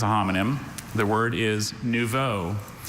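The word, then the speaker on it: nouveau: The word is neuvo. It's an adjective. It means newly arrived or developed, immature, raw. Uh, neuvo. Can I have all the information? Novo. Uh, I have no other pronunciations. Just nuvo.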